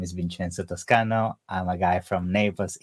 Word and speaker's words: Vincenzo Toscano: And today I have Vincenzo Toscano, right? Did I pronounce it correctly?